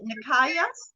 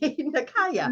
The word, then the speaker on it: Nikaya: Is it Nikaya? Yes. Hmm. Okay, I got it right. Nikaya. Yes. I always feel like I'm saying it wrong. No, you saying it right. That's correct.